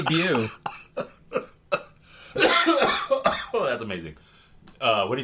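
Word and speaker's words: Beau: For people in Indiana who didn't know how to pronounce. What would they call him? B-E-A-U. Bu. Hey, Bu.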